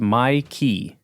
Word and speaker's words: Mike: was always kind of wait his name is Mikey bro his name is Mikey Sr still it's spelled Mike m i k e it's pronounced miky this is crazy Mikey Sr still anyways uh